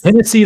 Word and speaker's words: Hennessy: Because Hennessy like Tennessee. That's actually the name of one of his albums. So it's spelled like Tennessee with an H. It's spelled like Tennessee, but with an H instead of a T.